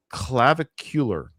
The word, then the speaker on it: Clavicular: But his name is Clavicular. Clavicular? That's his Clavicular? Clavicle? Like clavicle, but it ends with AR. So clavicular or clavicar.